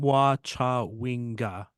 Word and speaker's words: Temwa Chawinga: Temwa Chawinga. Yeah, I was correct. Okay, good. That's going by pronunciation guide that's in the email that I